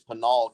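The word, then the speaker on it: Pinal: I know he's from No it's it's not Peno count it's panol County I know where you're talking about it's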